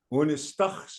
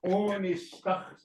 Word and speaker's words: Unistachs: Yeah, onistachs. And then some will say enistachs. Eni, right? The word eni is part of the word.